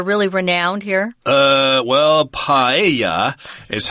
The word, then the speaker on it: paella: dishes that are really renowned here uh well paa is how you would say it in Spanish although my dictionary says paella is acceptable I suppose people would pronounce it